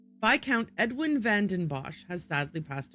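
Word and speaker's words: viscount: The vic was it vicount or vount? I know the s is not pronounced. Viccount Edwin vandenbos has sadly passed away.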